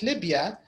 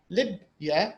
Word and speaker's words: Libya: stressed so for example when you say Libya we don't say the BIA we say Libya so the first the